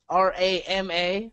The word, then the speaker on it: Rama: R-A-M-A, pronounced Ram.